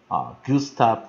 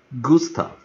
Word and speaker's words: Gustav: Holst， Gustav Holst，这个人名你就可